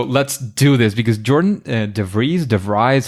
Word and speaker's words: DeVries: am Jordan so let's do this because Jordan DeVries de Vries how do I pronounce that DeVries you got it right the